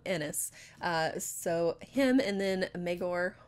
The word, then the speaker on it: Aenys: I'm gonna say it Aenys because I want to keep saying it Aenys, and then I realized that what that sounds like, and it's spelled Aenys. But so I'm gonna call him Ennis.